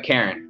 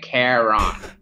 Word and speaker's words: Charon: of uh um uh charon did i say that right yeah no i think it's uh karen i like it's kind of pronounced like caron i want to speak